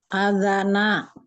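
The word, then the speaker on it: أذانًا: Maka azan ini bacanya apa ibu-ibu? Azana. Ya, Azana. azana.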